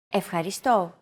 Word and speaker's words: Ευχαριστώ: It's the accent mark, and it indicates that this syllable is stressed. A stressed syllable is pronounced slightly longer and at a higher pitch than the rest of the syllables in a word.